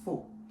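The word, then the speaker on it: Phuc: no no no no it doesn't sound like that this doesn't pronounce it yet it's actually full like food and i just tell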